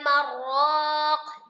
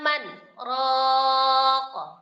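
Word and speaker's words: مَنْ رَاقٍ: Dibacanya bukan waqila marraq, bukan, tapi waqila man raq.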